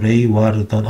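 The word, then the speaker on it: Leeuwarden: 암스테르담인 저 북쪽으로 가서 레이와르던, 이거 레이와르던이라고 읽는 거구나.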